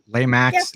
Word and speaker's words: Lemax: then I also have a bunch of I pronounce it Lemax, like the Halloween, like Lemax, they're all isn't it?